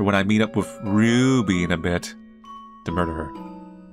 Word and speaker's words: Ruby: It's Ruby. You gotta say with a roo. Like, Aru.